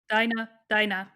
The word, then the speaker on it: Dina: probably heard about this theory with Eren commanding Dina to kill Carla, or Dinah, how is she Yeah, pronounced I in was English? about to bring that up now. Dinah, yeah.